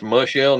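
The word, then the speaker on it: Michel: Oh, I guess it's pronounced Mushell, not Michael.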